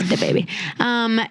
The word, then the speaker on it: DaBaby: You got to say it how it's spelled for sure. Can't say the baby. Yeah. It's DaBaby.